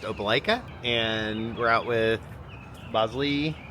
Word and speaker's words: Opelika: And we're gonna run into Auburn or Opelika to take the dogs to a dog park.